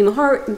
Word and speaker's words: Mahurin: who was um shelby maher she told me how to say i asked her because i kept saying it wrong she'll be her and it's a hard h and really really lovely